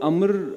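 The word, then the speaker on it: عمرو: तो वो जो आप कह रहे हैं कि इसकी प्रोनाउंसिएशन अम्र असल में है अम्र, वो इस मूवी के अंदर ऑलरेडी है।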